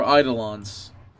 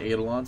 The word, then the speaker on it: Eidolons: They're Eidolons. A lot of there's like a different way to pronounce them. You can say Eidolons as well, but that's the wrong way.